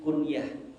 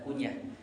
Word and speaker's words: kuniyah: jadi beliau itu memiliki kuniyah kalau bahasa-bahasa Arab itu biasanya mereka memiliki kuliah tulisannya kunyah Tapi bacanya bukan kunyah kuniyah itu artinya adalah nama penghormatan